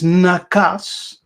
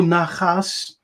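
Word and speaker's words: נחש: in the Hebrew is nakas, nakas or nachas. Now, in the word nakas, the K can also be pronounced as a G, so you can say nakas or nachas.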